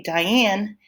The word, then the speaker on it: Diane: my first name is Diane and when you say Diane you say die low in up say it aloud to